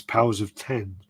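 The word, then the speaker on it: Powers of X: uh by the way while D of X House of X are pronounced as such power of X is powers of 10 yeah as us as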